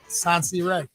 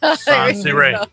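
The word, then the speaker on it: Sonseeahray: Okay, now I want to hear you pronounce the name of your store. Sansi Ray. Sansi Ray.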